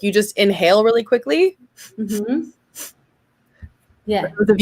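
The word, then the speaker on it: Kwik: And this guy is called Jim Quick. Okay. And funny enough, you pronounce it quick, but he teaches you how to learn quick.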